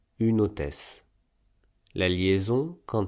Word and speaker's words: une hôtesse: Par exemple, dans une hôtesse, la consonne finale de une est n et la voyelle initiale de hôtesse est o. Donc, on lit le ne au o, no, et on prononce une hôtesse.